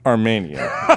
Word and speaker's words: Armenian: Excuse me, Cody, it's pronounced Armenian, not alien.